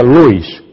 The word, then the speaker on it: Lewis: o agnes c s se escribe Lewis se pronuncia Luis y la señora bensley